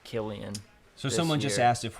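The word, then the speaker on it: Cillian: who else found out his name is pronounced Killian so someone just asked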